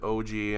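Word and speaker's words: Auge: In Japanese, they pronounce it Oji, and I'm pretty sure that's how the kanji is spelling it too.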